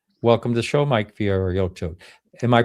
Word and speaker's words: Fiorito: Welcome to the show, Mike Fiorito. Am I pronouncing it sort of correctly? That's fine. Don't worry. It's I always say it's like Fritos corn chips.